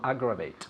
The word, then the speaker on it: aggravate: To aggravate. Okay, where's the emphasis? To, Aggravate. yes, to aggravate. To aggravate. It's the first syllable.